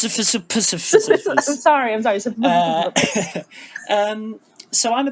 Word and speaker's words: Sisyphus: And yeah, how about you, Sisyphus? It's pronounced Sisyphus.